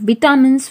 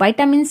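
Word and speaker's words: vitamins: वी get sugar minerals and विटामिन्स from fruits. विटामिन्स भी बोल सकते हैं, वाइटामिन्स भी बोल सकते हैं, बट वाइटामिन्स इज the correct pronunciation.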